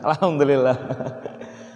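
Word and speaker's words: الحمد لله: mengalir al-hamdu bagi I karena lam ini tidak mengalir terlalu mengalir tidak juga terlalu tertahan sehingga cara bacanya pertengahan alhamdulillah al-najm alhamdulillah yang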